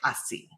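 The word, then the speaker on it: ASI: There's a sort of a mini framework I love, and it's actually not Spanish, but I pronounce it like it's Spanish, like así, right?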